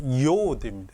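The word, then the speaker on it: י: 요드입니다.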